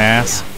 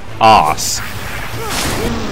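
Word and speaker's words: arse: You know, apart from being pain in my ass, you can tell I watch too much American TV, given that the correct pronunciation of that word is, of course, ass spelled with an R.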